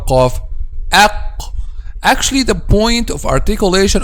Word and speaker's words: ق: Okay, so our golden rule to pronounce letter Qaf, which is put al-Qaf in the state of a-Sukun, okay, and put Hamza with Fatha before it. Aq, aq, aq, aq, aq, qa, qi, qu, aq.